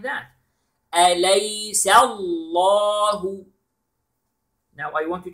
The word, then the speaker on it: أَلَيْسَ: أَلَيْسَ. All the letters are light. And then the name of Allah is heavy. Okay? Except the ha letter in the end. So we pronounce it like that. أَلَيْسَ اللَّهُ.